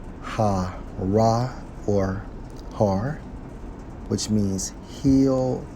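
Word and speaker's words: הר: pronounces ha ra or har which means Hill Mountain hence mount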